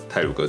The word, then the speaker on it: Taroko: was pronounced as Taroko due to the pronunciation of the Japanese, and finally became what we call Taroko Taroko today.